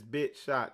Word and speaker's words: BitChute: Okay, I call it BitChute because it's CHUT or chute or whatever, but he said it's BitShot. That's how it's pronounced.